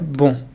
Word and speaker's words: bon: If you want to say bonjour in French, you need to first master the first part, bon. Bon. There is a nasal vowel here, bon, which means good.